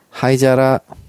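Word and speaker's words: 灰皿: 하이자라. 지금 재밌는 게요. 하이자라의 그 뒤쪽 한자 보시면 오사라의 한자랑 똑같아요. 아하. 네, 그 사라. 네, 이제 앞에 하이가 오면서 발음이 자라로 바뀐 거죠.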